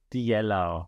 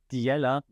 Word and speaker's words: Diella: minister Idi Rama appointed the yellow that's my German pronunciation but um a virtual